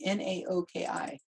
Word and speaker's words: Naoki: N-A-O-K-I. Naoki, I think.